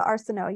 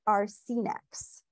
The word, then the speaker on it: Arsenault: Luisa Arsenault, you're up. She pronounced it Arsenex. Arsenault, Luisa corrected her softly. It's French.